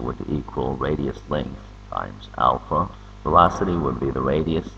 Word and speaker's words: alpha: go over the symbols this week letter is pronounced Alpha it's used as symbol for angular acceleration this